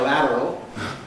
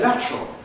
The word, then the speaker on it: lateral: Phonetic term, is it lateral? You hear Americans say lateral but I think I would have said lateral.